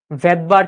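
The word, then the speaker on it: Svedberg: ভদবার unit. কি ভাইয়া? ভদবার unit. নাম বলেছিলাম মনে আছে? প্রথম ক্লাসে বলেছিলাম এই ভদ্রলোকের নাম ছিল ভেদবার বুঝছো এসটা এখানে সাইলেন্ট থাকে ক্লিয়ার আচ্ছা তাহলে ভৌত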